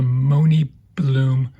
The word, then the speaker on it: MoNibloom: It's I believe it's pronounced the Mooney Bloom threewheel pet stroller.